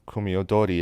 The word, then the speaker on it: Kumi Odori: There are several different forms of Ryukyuan theater, but one of the most famous is Kwimi Wudui, or Kumi Odori as it's pronounced in Japanese.